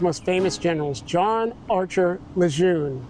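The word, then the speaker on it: Lejeune: And this is this is one of the Marine Corps's most famous generals, John Archer Leune. Well, actually, I think the family wants us to pronounce it Leger, but he was famous for command in World War I and thereafter.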